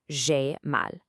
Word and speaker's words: j'ai mal: You say it like j'ai mal, and it literally means I have pain.